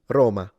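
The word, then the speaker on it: ローマ: It means take this syllable, ro, and lengthen it to at least double its length. Ro, and then ma, which means the city of Rome. Roma, Roma.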